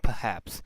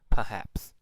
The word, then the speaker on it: perhaps: pronounced as particular and perhaps. No R, because after R there is a consonant, so they do not pronounce R. So it will be particular, perhaps.